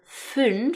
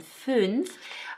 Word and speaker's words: fünf: So the number 'zwölf' (12) has the umlauted ö and then the number 'fünf' (5) has the umlauted ü. So it's 'zwölf' and 'fünf' And then finally we